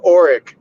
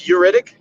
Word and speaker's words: Ugaritic: I thought he said oric, but it's uritic. I I couldn't see how it was spelled because he just pronounced it. Yeah. Uh I think it's called yugaritic.